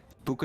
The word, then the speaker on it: Buca: Yeah, Buca rhymes with Luca.